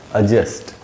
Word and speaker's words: adjust: तो यहाँ जे के पहले डी है, इस डी को हम नहीं पढ़ेंगे और ये पढ़ा जाएगा एडजस्ट।